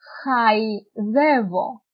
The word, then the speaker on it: χαϊδεύω: Όπως λέμε, δεν τα προφέρεται ξεχωριστά. Όπως λέμε, χαϊδεύω. Χαϊδεύω. Μετά, τρόλεϊ και λαϊκή. Αν δεν ήταν τα διαλυτικά, θα το διαβάζαμε ως σχεδεύω, τρόλι και λεκή.